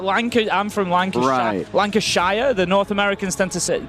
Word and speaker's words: Lancashire: Lancashire. The North Americans tend to pronounce the sh.